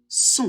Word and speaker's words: son: O et N, ça fait toujours on, donc on prononce le possessif masculin singulier son.